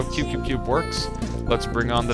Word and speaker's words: Qbqbqb: So your game is called, well, it's spelled Qbqbqb, but I'm told it's pronounced Qbqbqb. Is that correct? Yes, it's Qbqbqb.